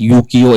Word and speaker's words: Ukiyo: So, if we think about the name Ukiyo, it's pronounced as Yukio in Japanese. We started calling it Ukiyo, so it goes by the name Ukiyo.